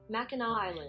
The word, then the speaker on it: Mackinac Island: can see up here I had a Google pronunciate how to say it Mackinac Island Mackinac Island and so I had uh I